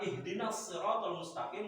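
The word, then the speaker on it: اهدنا الصراط المستقيم: Ingat tadi shad itu ada isti'la. Shad dengan lam, shad dengan sin.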